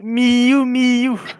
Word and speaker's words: Miu Miu: Ça se prononce Miou Miou.